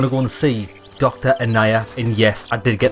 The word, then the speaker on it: Annaya: Annaya. And yes, I did get the pronunciation correct this time.